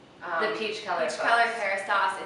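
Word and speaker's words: Kérastase: And I mean, I'm very partial to Kerastase products.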